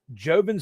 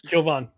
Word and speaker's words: Jovon: And they had an interception by Jovin Santos Knox. Probably said his name wrong, but Jovin Hovind Joven Santos Knox. Jovon. Jovon Santos Knox.